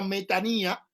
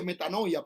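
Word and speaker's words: μετάνοια: Que el griego usa la palabra metanía y la gente la mal pronuncia y dice metanoia, pero es metanía, que es un cambio de idea, de mente, de parecer y todo eso.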